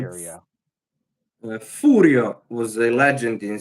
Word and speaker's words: Furio: They did, and You Americans say Furio, but he's actually Furio.